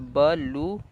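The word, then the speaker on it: blue: तो ब लू। और यहाँ पे जो ई है वो हमारा साइलेंट है। तो यहाँ पे आपका ई है वो साइलेंट है क्योंकि वो लास्ट में आ रहा है।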